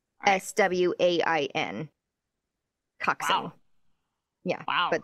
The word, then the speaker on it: coxswain: It's spelled COXSWAIN.